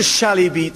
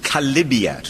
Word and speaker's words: chalybeate: They call it a chalybeate spring. It's actually a mispronunciation of chalybiat from the Greek, and it's a filthy thing, like a car sump down in the Pantiles.